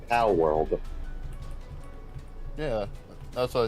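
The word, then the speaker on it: Palworld: like people were I'm pretty pretty sure it's pronounced po world yeah that's what I said Paul Paul po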